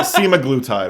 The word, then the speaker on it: semaglutide: could have said anything I think it's SEMA semaglutide is actually how it's pronounced I took my first